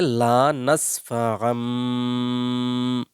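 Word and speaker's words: لنسفعا: আলিফ দুই জবর আম এই তানবিনের উচ্চারণ মিমের মতো হয়ে যাবে তাহলে লা নাসফাআম, বা নুন জের বিন, নুন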